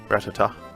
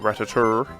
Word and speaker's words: Rattata: Our Rattata. Let's do that. Let's get our Rattata out. Rattata. Not Rattatur. There's no R on the end of Rattata.